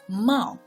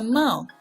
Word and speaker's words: 帽: But the point is that its pronunciation is 帽, which is the same as the whole character itself. So one part representing the meaning and the other part representing the pronunciation. The character 帽 has changed from its